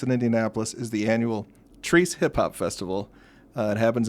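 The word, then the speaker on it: Chreece: our great events in Indianapolis is the annual trece hip-hop Festival uh it happens in Fountain Square every summer and it's spelled c h r e e c but it's pronounced trece yeah you've had to correct me a couple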